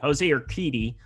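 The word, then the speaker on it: José Urquidy: joseo or your kurdi jose your kitty there we go there i just couldn't say it correctly jose or kitty i believe is uh how you go about it but been a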